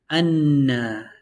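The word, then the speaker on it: أنّا: One of the noons takes sukun, the other one takes fatha, so it's read as anna. You have to sit on it a bit because you have to pronounce both noons.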